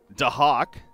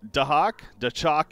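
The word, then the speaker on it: Daxak: Apparently, Doxock, as we've been saying, is pronounced Dahak, or Dachok even. You could also say about Dahak instead, so it's more of an H instead of the X.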